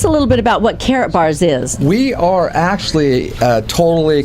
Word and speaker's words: Karatbars: with you, Robert Turner of Carrot Bars, and it's spelled Karatbars, and also he is with Shallow.